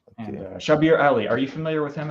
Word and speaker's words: Shabir Ali: Shabir Ali, pronouncing it correctly.